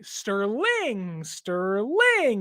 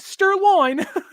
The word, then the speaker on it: Sterling: Like Sterling, not Sterloin.